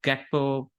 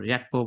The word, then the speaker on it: Gakpo: Because right now, Gakpo or Yakpo, whichever way you want to pronounce it, Darwin, Luis Diaz, and Jota are fighting for 2 spots.